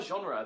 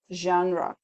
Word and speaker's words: genre: there is not a genre that she can't do yeah exactly genre genre it's not genre but genre um we pronounce the letter e at the end which is not very common but we do that